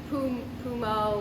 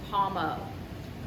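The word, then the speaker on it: Pommeau: this month's featured spirit is none other than paumo hard to pronounce some people some people say pumo or pom pom um it is french the way to pronounce it is palmo it's actually french for apple water and this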